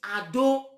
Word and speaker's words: Edo: Because that word Edo, the real pronunciation is Ado, which is the bastardized generation of Oromia.